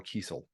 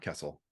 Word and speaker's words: Kiesel: to correct you but it's Carl Kiesel not Kessel oh Kiesel sorry we